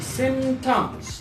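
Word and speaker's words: symptoms: यहाँ पे पी वो जो साउंड है वो साइलेंट होता है, हम कहते हैं सिम्टम्स।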